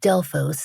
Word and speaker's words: Delphos: We found a local on a very obscure car commercial pronouncing this town name a little differently, but it's been pretty universally called Delos in the media for the past 50 years.